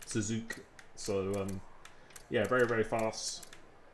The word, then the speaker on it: Suzuka: There's a lot of very fast people in here, but yeah, the way to pronounce his name, he told me, is just to say Suzuka. Suzuka.